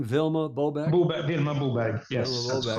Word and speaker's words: Vilma Bobeck: Vilma Bobeck.